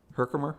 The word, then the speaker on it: Herkimer: Herkimer? Is that how you Okay.